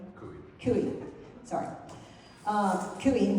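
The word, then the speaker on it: Coie: Ki Kui Kui, sorry.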